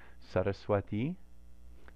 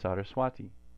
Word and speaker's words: Sarasvatī: If we say ta, ta, ta, it's very different from our regular English T's. Ta, ta. So you can hear the difference if somebody says Saraswati versus Saraswati.